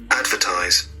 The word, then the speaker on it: advertise: Advertise. Advertise. Advertise is read on the first syllable.